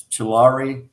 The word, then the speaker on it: Tulare: Or maybe she lives in it's and pronunciation I'm not. It's Tulare, California.